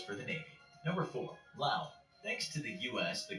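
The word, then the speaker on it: Laos: the navy number four lao thanks to the u.s the country of lao pronounced without the s can say it's the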